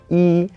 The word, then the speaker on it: 一: So whenever it's used as a number, it's just a plain first tone, E. But when we pair this with other words, then it changes sometimes. For example, when we pair it with a fourth tone, then E all of a sudden becomes a second tone.